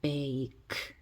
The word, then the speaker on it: bake: 여기는 bake가 됩니다. 대신 요 끝에 있는 E는 소리가 나지 않습니다.